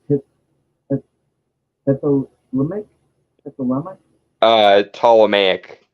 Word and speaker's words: Ptolemaic: that's a remake uh ptolemaic the p is silent right like it's tall